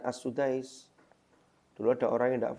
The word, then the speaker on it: As-Sudais: Syekh Abdurrahman As-Sudais, itu memang dibaca As-Sudais.